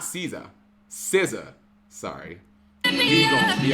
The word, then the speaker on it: SZA: But, like, the main theme from the first Black Panther song, which was All the Stars, it was Caesar, which apparently that's how you say her name, Caesar, and Kendrick Lamar.